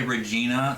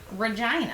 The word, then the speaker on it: Regina: al had first said it rhymes with the female body part and i was like